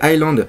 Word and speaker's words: Island: Je sais le prononcer. C'est Island.